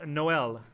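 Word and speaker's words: Noël: It's pronounced Noel. Noel. What did I say? Noel? I meant Noel, obviously. In my country, you would spell it with 2 dots on the E.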